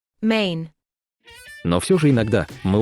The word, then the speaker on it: Maine: Название «Мэн» странно произносится на русском языке. Англоязычные пишут и произносят его немного иначе. Maine.